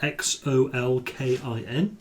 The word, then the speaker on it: Xolkin: is a half-elf named Zolkin Alasander. That's Xolkin.